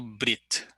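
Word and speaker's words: ברית: Então, a palavra aliança é pronunciado Brit.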